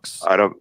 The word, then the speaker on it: Fawkes: the Fox is spelled That is such a cool name. FAWKES. Okay. Mr. No Show is FAW. Mr. spelled out. FAWK. FAWKES. Yes. Like Guy Fawkes.